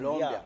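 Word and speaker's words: Nkolombya: Ils pensent que c'est Colombiabia. Colombia. Ouais. C'est pas Colombia de la Colombie.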